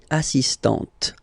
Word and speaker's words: assistante: But for the feminine form, elle est assistante. Okay, étudiant, étudiante, assistant, assistante.